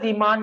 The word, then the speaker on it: Zeeman: Actually, it is pronounced as Zeeman effect.